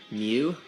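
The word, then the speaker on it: μ: talk about what this weird symbol is it's pronounced mu as in Miu and what it is called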